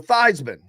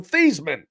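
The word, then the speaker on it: Theismann: he knows about Joe Thyman. Joe Feesman. I guess I should say his name is actually Joe Theman.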